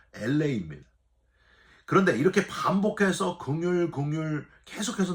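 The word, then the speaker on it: ἔλεος: 여러분, 이 긍휼은 헬라어로 LA라고 발음을 해요. 저와 여러분이 사는 곳이 지금 LA 아니에요? 예. 근데 이 긍휼이란 단어의 발음도 LA입니다.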